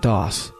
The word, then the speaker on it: DOS: industry sometimes reminisce about Doss it was the first operating system that many of them used and its cryptic command line interface left an indelible impression dos which rhymes with toss stands for dis operating